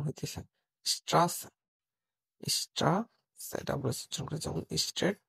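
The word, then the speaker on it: Straße: বি বা এস সেটের জায়গায় ডাবল এস এর উচ্চারণ হইতেছে স্ট্রাস স্ট্রাড স্ট্রেট বা রাস্তা তো বন্ধুরা আজ আমরা শিখলাম Germany alphabet and pronoun section.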